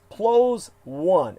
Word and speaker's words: PLOS ONE: It's PLOS 1, as in plus one. It's called like plus one, but it's all uppercase PLOS.